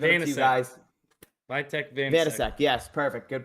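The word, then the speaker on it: Vítek Vaněček: Vitek Vanasek. Yes, perfect. Good pronunciation.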